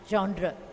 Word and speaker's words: genre: G-E-N-R-E, genre of a particular class or order.